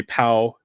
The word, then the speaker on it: pau: Is when we're done with work, or we say "pau" and it's spelled P-A-U, and it means to be done in Hawaiian.